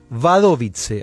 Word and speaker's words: Wadowice: Y había nacido el 18 de mayo de 1920 en Wadowice, así también se pronuncia el pequeño pueblo del sur de Polonia,